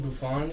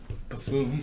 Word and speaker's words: Buffon: my dad pronounced Gianluigi Buffon. He said Buffoon.